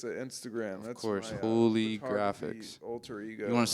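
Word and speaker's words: Hooligraphix: there you go yeah play on uh like uh holographic but it's holy graphic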